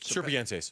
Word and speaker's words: Serpientes: How do you say pronounce it? Serpientes. Serpientes jersey.